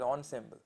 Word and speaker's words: ensemble: Some people pronounce it as ensemble.